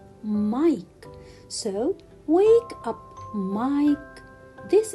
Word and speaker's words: Mike: uh wake up mike can i say mick no teacher why because i have the letter e so when i have the letter i which is followed by the letter e so i should pronounce it i mike so wake up mike